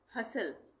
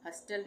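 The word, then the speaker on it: hustle: silent हो जाएगा latch हसल हसल इसमें क्या है एस टी एल ई एक साथ आ रहा है तो इसमें टी का उच्चारण नहीं होगा हस्टल नहीं बोलेंगे हसल उसी तरह से विसल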